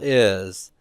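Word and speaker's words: αι: or an Upsilon for it to be a dipthong so let's take a look at the dip thongs here uh we have the um Alpha eoda DP thong and that will be pronounced I everybody say that with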